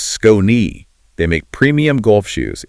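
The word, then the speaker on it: Skoni: S K O N I pronounced Scone.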